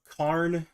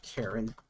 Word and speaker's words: cairn: of them, like a cairn. Is that how you pronounce it? How do you pronounce a cairn? No, it's not Karen. Karen. Cairn.